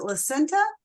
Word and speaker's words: Lasenta: our amazing speaker um and I hope I'm pronouncing this correctly is it lenta it is you got yeah I always ask